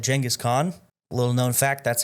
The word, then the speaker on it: Genghis Khan: Yes, I said Genghis Khan. Little known fact, that's how it's supposed to be pronounced.